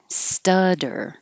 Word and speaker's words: stutter: k position obnoxious obnoxious stutter studder the two t's change to a d star dole the